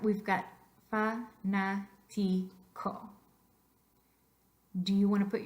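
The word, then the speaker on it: fanático: For that reason, all words that have their voice stress on the third to the last syllable will need an accent mark. So you would need an accent mark over the second A.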